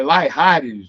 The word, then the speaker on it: Layrargues: Felipe, desculpa se eu errar a Não tem pronúncia do sobrenome, Laihares, não é isso?